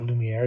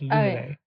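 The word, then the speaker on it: Luminae: I always want to say Lumiere, but that's not Lumiere. It's Lumine.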